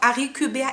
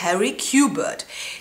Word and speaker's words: Harry Quebert: auch ein französischer Name ich habe Interview gesehen mit Joel Dec er sagt dann auch Arie Cuber ich habe aber gehört dass es im Hörbuch amerikanisch ausgesprochen wird nämlich Harry cubert die ganze Geschichte spielt